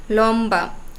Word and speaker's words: লম্বা: এবং ব তো এই ম এর সাথে যখন ব ফলা যুক্ত হবে তখন সেই ব এর উচ্চারণ অবিকৃত থাকবে যেমন লম্বা কম্বল লম্ব সম্বল এখানে